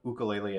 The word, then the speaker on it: ukulele: ukulele years ago but ukulele at this pose is the right way to say it um and i